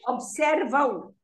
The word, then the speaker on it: observam: Vocês observam. It's pronounced, you know, you kind of say aum.